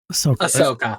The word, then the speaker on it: Ahsoka: How do you pronounce that? Ahsoka.